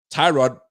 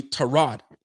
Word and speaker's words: Tyrod: are coming out and tyrod is really torod it sounds weird to me to say it but that's his name so we're gonna call